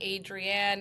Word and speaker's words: Adrienne: know people always say Adrienne adri an I always go back to the Rocky movie Adrien that's exactly how you pronounce it so hopefully won't be